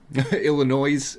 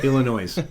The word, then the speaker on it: Illinois: If you live in the Chicago area and you pronounce the S on Illinois, Illinois. Illinois.